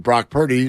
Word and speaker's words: Brock Purdy: I do notice that Brock Purdy rhymes with jock pretty yeah like I was